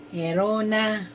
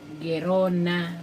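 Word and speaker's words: Gerona: Ah ito po ay si Binibining Maria Leonor Lenny Herona Robledo. Correct meong po doon sa pronunciation ng kanyang yan si ma'am Maria Leonor Lenny Guerona Robledo.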